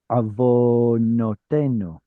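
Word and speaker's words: עֲוֺנֹתֵינוּ: And every syllable is supposed to start with a consonant. So this one right here is going to be vo with a consonantal vav. Avonotenu.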